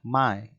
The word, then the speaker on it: my: dulu dengan May ya ini dibacanya May artinya ku ya maksudnya